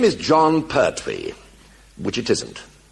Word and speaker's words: Pertwee: And nobody could pronounce the name properly, Pertwee de Layevo, Perthuis. They couldn't pronounce it, so the illiterate English pronounced it Pertwis. So it was duly changed to Pertwwe.